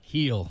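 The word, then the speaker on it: Gil: thought this guy and I guess you pronounced G heel heel is the way you pronounce his name amazing wow this he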